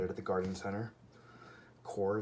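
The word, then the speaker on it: coir: at the garden center core is spelled c-o-i-r okay and you put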